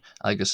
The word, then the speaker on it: agus: cool but I guess latin l aus or aus some people say agus or aus but agus is the generally agreed upon pronunciation for the word and gillick.